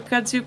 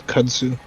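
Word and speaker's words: kudzu: of a CSU plant oh it's CSU I've been saying it wrong this whole time that's awkward I'm saying it wrong no it's I'm going to defer to you it's kudu well kudu is like an Asian plant and I reckon that all of us who say the word re can say it wrong uh that's means we're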